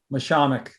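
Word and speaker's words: Mashomack: How do you pronounce the preserve? Mishamik.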